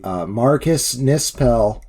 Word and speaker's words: Marcus Nispel: Marcus Nispel got yes.